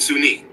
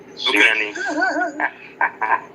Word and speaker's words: Sunyani: And Sunni. Sunyani. It is called Sunyani. Sunyani.